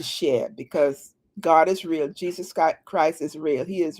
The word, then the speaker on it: Jesus: But in the English language, his name is pronounced Jesus. Okay, so maybe in another Hebrew or whatever the other language, maybe it's pronounced Yeshua or whatever. But when it's translated into English, it's pronounced Jesus.